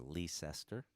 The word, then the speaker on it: Leicester: in a place called leicester north carolina or lease esther depending on how you might want to pronounce it and it does not